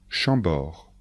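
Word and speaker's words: Chambord: chenonau et le château d'Amboise attention de bien prononcer les noms de Château répétez après moi chambor le château de chambor Blois le château de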